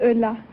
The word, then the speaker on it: Ulla: Ulla, is that right? Is that how you pronounce it? No, my name is Ulla.